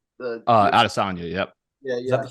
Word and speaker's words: Adesanya: It's Adesanya. Adesanya, yep.